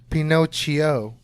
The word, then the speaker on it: Pinocchio: to get into here it's actually pronounced Pinot CHEO is it what are